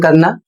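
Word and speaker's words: quay: अगला शब्द है ई वाई ई आई इसका अर्थ होता है आंख। शब्द है क्यू यू ए वाई। इसे पढ़ा जाएगा की और इसका अर्थ होता है बंदरगाह।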